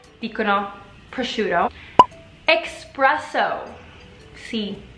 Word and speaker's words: espresso: Espresso. Sì, invece di dire espresso, molti dicono espresso, come se fosse una ex.